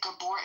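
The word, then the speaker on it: Gabor: Is it Gabbor? Is that how you pronounce it?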